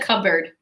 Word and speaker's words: cupboard: good what is it cupboard the P is silent cupboard which is a